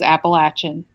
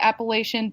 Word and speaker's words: Appalachian: just that's what the locals call it is Appalachian uh look it up Google it uh Google